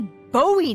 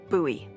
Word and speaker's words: Bowie: And then all of a sudden, with no warning, he pulls out this huge rusty Bowie knife. It's actually pronounced Bowie.